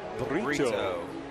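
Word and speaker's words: Brito: When they first told me the name, it sounded like burrito, but it's Burrito.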